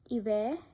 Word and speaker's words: hiver: Then the word ends with certain consonants C, R, F, L, then we pronounce them. For example, avec, hiver, neuf.